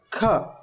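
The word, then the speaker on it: ಖ: And the second letter is kha. Kha. So you see the difference. To pronounce the first letter, it doesn't require much breath, but the second one requires.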